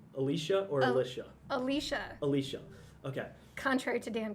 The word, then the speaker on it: Alysha: Alysha. Alysha. Okay. Contrary to Dan Conrad, who convinced the entire Washington staff that it was Alysha. Oh. But it is and then he got Alysha.